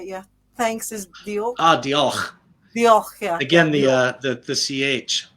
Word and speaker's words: Diolch: No, And it's oh, I gotta say Diolch. Is that how do you say it? Yeah. Thanks is Diolch. Diolch.